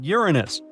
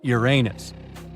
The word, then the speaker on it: Uranus: all this time actually astronomers say we should be pronouncing it like Uranus not Uranus I can't say a different stress changes much though however things could have